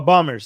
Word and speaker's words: bombers: I shouldn't pronounce the second B.